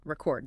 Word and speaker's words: record: If you only read the word re e c o r d, you don't know if the stress is on the first syllable, record the noun, or the second syllable, record the verb, which completely changes the meaning.